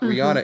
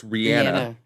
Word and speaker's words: Rihanna: Rihanna, it's not Rihanna, it's Rihanna. Okay. That's how it's actually pronounced.